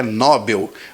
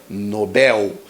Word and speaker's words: Nobel: Ele disse que a forma correta é Nobel mas não é porque não existe acento nessa palavra é Nobel então aqui está errado também